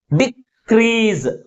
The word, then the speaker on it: decrease: Second syllable is pronounced with a greater force comparing with first syllable. That is crease. That's why the primary stress is on the second syllable. Decrease, decrease అంటే first syllable కంటే second syllable ఎక్కువ ఫోర్స్గా పలుకుతుంది.